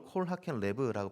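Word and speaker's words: כָּל חֲכַם לֵב: 히브리어로 콜 하켄 레브라고 발음하는 이 단어는요, 마음이 지혜로운 사람, 그러니까 온 히브리식 표현으로 오장육부가 지혜로운 사람이다라고 할 수 있습니다.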